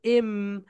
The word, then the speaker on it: m: হচ্ছে এম, সবাই বলো এম, আপার লিপ লোয়ার লিপ ঠাস টুগেদার, বলো এম, এম। এটা কি কার মতো বলে? মার মতো বলে, মা, মা, মা, মা, মা।